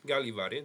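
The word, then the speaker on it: Gällivare: And let's see how it is pronounced. Galiv. Here we go. Okay. Galivore. Yeah, Galivar.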